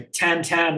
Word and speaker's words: Tintin: I was, Hergé, obviously Tintin comics, or Tan Tan. I recently learned it was supposed to be pronounced, but I prefer Tintin because it sounds less pretentious when I say it.